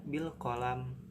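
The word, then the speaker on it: بِالْقَلَمِ: Terus yang ketiga bil qalam. Ini alif lam qamariyah karena ada huruf alif lam yang diikuti huruf qamariyah yaitu qaf. Bil qalam. Dan dibacanya izhar, jelas ya.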